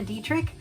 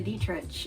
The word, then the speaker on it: Dietrich: Marina Dietrich and I thought it was Marina Dietrich but Aaron Parsons said it's pronounced Marina detr and I mean I'm not even going to